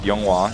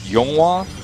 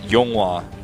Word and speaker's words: YongHwa: Yeah, if you pronounce it YongHwa. If you pronounce it YongHwa, which is what his name actually is, then it's not that.